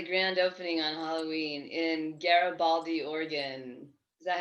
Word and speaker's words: Garibaldi: just had the grand opening on halloween in garibaldi oregon is that how you say it yes